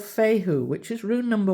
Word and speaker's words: Fehu: But anyways, with this one here, it's called Fehu, which is rune number 1. And it's pronounced like a Fahu, I think you can pronounce it.